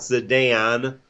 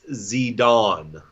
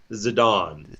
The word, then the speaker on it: Zidane: have waka Sudan which is so how you pronounce his name it's not sedan or Zidane its Zidane that's that's literally how you pronounce his name Zidane that sounds term and I try I looked